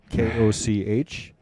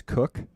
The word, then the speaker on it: Koch: last names pronounced incorrectly k-o-c-h it is Cook oh there you go but I can tell you the mispronunciations I get are interesting oh yeah I I I probably don't even know what I would say probably Koch yeah that's not bad that's mayor Ed Koch that's one way they